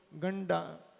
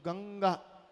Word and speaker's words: गंगा: अब जब ये लगाते हैं ना तो लोग पढ़ते हुए इसको गंडा गंडगा गंडगा पढ़ेंगे। तो ये इसका उच्चारण क्या है? अंग अंग ग अंग। तो गंगा बोल रहे हो ना आप, गंगा, चंगा, मंगा, ठीक है, मांगा, ठीक है।